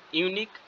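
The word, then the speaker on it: unique: বসবে this is অ্যান ইউনিক cash এই ইউনিক যেহেতু আছে ইউ এর মত উচ্চারণ হচ্ছে এন না বসে এ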